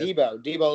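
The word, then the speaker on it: Deebo: Debo, like from like Friday.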